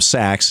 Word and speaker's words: Sacks: And you can tweet him at the DC Sentinel or at Sachs, and it's spelled S-A-C-K-S. Yes. So not as in Goldman, but as in, hey, it's a sack, and or whatever.